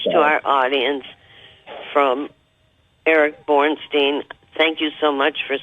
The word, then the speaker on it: Bornstein: And it's Bornstein, and for our audience, that's spelled B-O-R-N, like born, S-T-E-I-N.